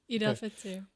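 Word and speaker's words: Eid al-Fitr: Is it Fitr or Fight? You're saying it right. Eid Al Fitr.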